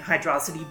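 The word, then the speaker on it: Hydrocity: really funky and yes I am pronouncing it hydrosity because every official Source spells it as one word so I'm going to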